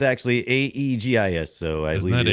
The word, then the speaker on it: Aegis: That's ageist. Don't say ageist defenders. I'm defending the Aegis. It's actually Aegis, so I Isn't believe that it is Aegis?